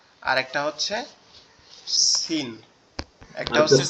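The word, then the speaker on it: س: দুইটা হরফ, আরবি টোটাল হরফগুলোর মধ্যে দুইটা হরফ শুধু তিন নোক্তাওয়ালা, একটা হচ্ছে সা আর একটা হচ্ছে সিন, একটা হচ্ছে সা আর একটা হচ্ছে সিন।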